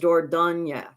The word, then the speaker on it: Dordogne: up, and it actually, I looked up the French pronunciation en français, and it was Dordogne.